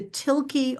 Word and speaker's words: Thielke: It's going to be at the Tilke Arboretum in Glen Rock, and that is spelled Thielke, Tilke Arboretum.